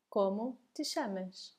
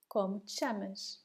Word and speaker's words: como te chamas: Como te chamas? Once again, C and H together and the sound sh.